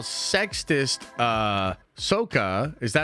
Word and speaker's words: Sokka: It's pronounced Sokka.